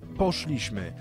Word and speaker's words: poszliśmy: i tak dalej Słuchajcie za każdym razem kiedy odmieniamy czasownik w liczbie mnogiej w czasie przeszłym następuje przesunięcie tego akcentu z drugiej sylabie od końca trzecią sylabę od końca to jest zmiana z